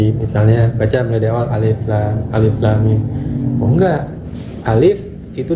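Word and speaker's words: الم: harokat, emang enggak panjang, tapi lam itu panjang, alif lam 4 harokat. Harokat itu ketukan. Lam. Nah, mimnya ditahan dulu, 2 harokat, 2 ketukan. Alif lam mim. Mimnya juga 4. Itu cara membacanya.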